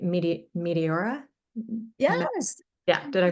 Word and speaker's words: Meteora: And then Joy had a question on, hopefully I'm pronouncing this correctly, Meteora?